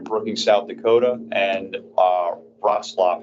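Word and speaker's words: Wrocław: South Dakota and uh rlap is how you say it's not how you spell it Poland so as was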